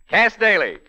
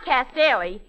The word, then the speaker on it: Cass Daley: of the Silver Screen cast daily well well well well Cass Bailey well now pardon me Mr Amici but you've got my name wrong it's not cast Dairy it's Cass G daily what's the G for